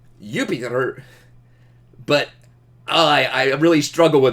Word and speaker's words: Jupiter: Oh, by the way, I'm pretty sure that this one, J makes a Y sound in Roman Latin. So I'm pretty sure that this should be pronounced Jupiter.